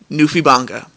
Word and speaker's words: NewfieBangaa: That's spelled Newfie as in Newfoundland in Canada, but it's Newfie. New like NEWFIE, and then Banga spelled BANGAA. NewfieBangaa.